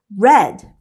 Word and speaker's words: read: The correct answer is read. They're spelled the same, but they are pronounced differently.